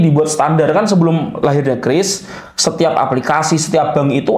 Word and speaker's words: QRIS: Kris ya bukanis bacanya ya. Kris bacanya Kris ya. Dulu saya juga Qis lebih enak itu baca QIS Kris ya. Ternyata Kris bacanya.